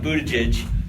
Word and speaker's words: Buttigieg: Buttigieg. I don't know how to say his name. His name is Pete Buttigieg. That's it.